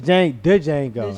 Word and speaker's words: Django: Yeah, the Django. I said Django. Yes. The Django. The D is silent.